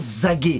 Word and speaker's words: Zagué: Mais on m'a dit ça se prononce Zagué.